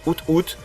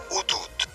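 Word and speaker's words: Ho-Oh: comme on prononce l'hibou de la même génération, out, qui se prononce en fait Outout.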